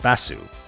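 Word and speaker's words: バス: His name would be transcribed in Japanese as this, the Japanese word for bus, pronounced Bassu.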